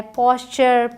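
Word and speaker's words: posture: जैसे मैंने कहा ALL ऑल बोला जाएगा, वैसे ही TURE चर बोला जाता है। पॉस्चर, पिक्चर, lecture, fracture. आसान हो गया, इसे टुरे नहीं बोलेंगे। आपने एक जोक भी सुना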